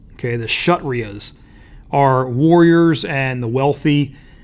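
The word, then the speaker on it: Kshatriyas: scholars the next is that four that's actually pronounced shut Ria's okay the shut Ria's are warriors and the wealthy the next is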